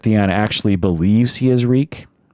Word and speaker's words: Reek: My name is Reek. It rhymes with freak.